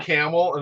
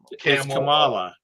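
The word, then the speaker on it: Kamala: uh at the endel Camala that's the way they they just said you've been say been saying it wrong racist it's camel like the animal of camel and then loot camel camela actually it's cackles but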